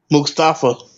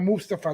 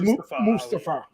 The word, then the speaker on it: Mustafa: Mustafa. No, Mustafa. That's what he wants to be pronounced. He literally says it. He says Mustafa.